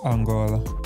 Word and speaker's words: Angola: Angola Angola yeah how do you say it Angola Anga Angola Angola yeah okay so yeah my